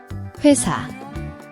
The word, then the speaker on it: 회사: Here's how to pronounce it. 회사, 회사.